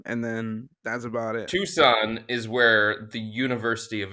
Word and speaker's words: Tucson: sub texter Dave and tuxen asked hold on hold on did you just say tux yeah what is T CS o a n it's Tucson Tucson Arizona I I I hate